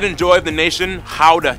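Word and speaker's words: Gouda: joy of the nation how to cheese yes that's how you pronounce it guys oh and keep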